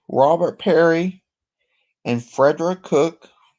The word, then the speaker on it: Peary: It was actually Robert Peary, not Perry, I'm sorry, I pronounced it Perry.